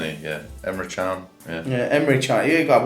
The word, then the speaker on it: Emre Can: I said Emre Can. Yeah, but the way it's pronounced.